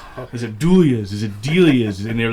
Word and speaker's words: Delia's: Is you have a lot of Spanish influence and other, Delia's is the how you pronounce it, but we get Delia's, Delilah's, Delia's.